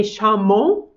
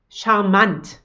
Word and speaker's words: charmant: So it's kind of a mix of French and German. We don't say charmant, but we say charmant.